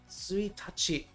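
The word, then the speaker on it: 一日: Suitachi is how you say this.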